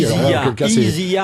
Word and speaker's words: Isia: Prononcez bien parce que les gens vont comprendre que c'est Sia qui vient ici. Isia avec un Z et de Isia Higelin.